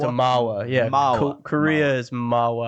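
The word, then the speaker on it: manhwa: Oh, it's a Mawa.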